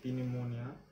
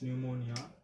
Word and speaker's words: pneumonia: P is silent, you don't call it as pneumonia, it's pneumonia.